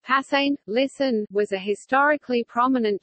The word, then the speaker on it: Preußen: Prussia, German, Preußen, pronounced Passain, listen, was a historically prominent German state that